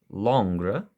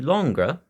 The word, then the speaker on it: Langres: g r s and I had a bit of trouble learning how to pronounce that but I hope I'm getting it somewhat close to correct but the longra is named after a